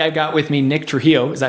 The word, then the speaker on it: Trujillo: That's what happens when I go down to Mexico and then they like check me into a hotel and they say, Senor Trujillo.